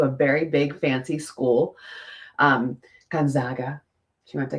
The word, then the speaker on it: Gonzaga: very big, fancy school, Gonzaga. She went to, is it Gonzaga or Gonzaga? Because I said it wrong. I said it Gonzaga, and she's like, it's Zaga.